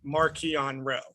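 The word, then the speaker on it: Marchion Ro: decided suddenly to miss to change the pronoun official pronunciation of martian row to marchionne row that's kind of a big oversight this is this has been a thing like it was a thing as far back because the authors pronounce it marquian rowe and mark thompson and the other audiobooks people have been pronouncing it marcion row and this was actually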